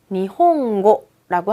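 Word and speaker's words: 日本語: 럼 된대요 어 예를 들면은 우리 일본어를 일본어로 니홍고라고 하는데요 뒤에고 이런게 따라와요 그럼 당연히 니홍고 응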